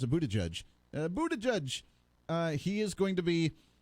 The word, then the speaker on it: Buttigieg: And Pete Buttigieg, how do you pronounce it? Buttigieg, he is going to be, I believe on Wednesday night, he'll be on that debate.